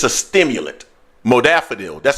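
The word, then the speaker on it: modafinil: people use it for concentration it's a stimulant modafanil that's how you pronounce it modafanil I've seen this in the past it's called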